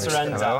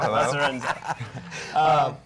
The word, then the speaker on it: Lacerenza: You know I did that so I didn't butcher the name, right? Yes. Okay. Yeah, So Lacerenza. Lacerenza.